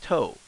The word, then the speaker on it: と: So this one, this is not two. If you see it, this means toe. Toe as in toast, big toe, tone, toe, tonto.